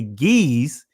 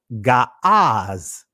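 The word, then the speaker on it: Ge'ez: Amharic that's the same way with what many would say Geese, but if you gave it the proper pronunciation of the ancient, it would be Gaaz.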